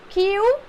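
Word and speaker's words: queue: ये तो बहुत आसान है और इसको क्यू बोला जाता है बेटा, इसका प्रोनाउंसिएशन क्यू होता है।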